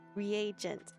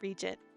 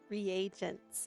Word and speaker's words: reagent: Reagent. I was saying it wrong. I was saying regent. Reagent.